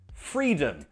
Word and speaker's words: freedom: Other words, for example, freedom. Again, the first syllable is stressed. Free. The second syllable is not. It's unstressed, so schwa. Not freedom, no.